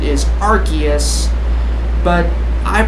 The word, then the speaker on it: Arceus: this right here yes I know that my pronunciation of Arceus is wrong and I know that it's official pronunciation is Arceus but I pronounced as Arceus because it just sounds better to me okay